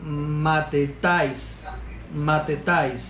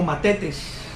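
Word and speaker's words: μαθητής: Esta palabra, la 3101, en griego, se pronuncia algo como matetais, en español como matetes.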